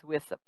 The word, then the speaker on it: WSIP: and sewer investment plan, hereafter WSIP, which I will pronounce as WISIP, pursuant to a new state statute.